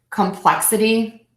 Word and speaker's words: complexity: have four syllables and we know the rule is you stress the syllable B for the a D which is the ity so syllable two will be stressed bill a d complex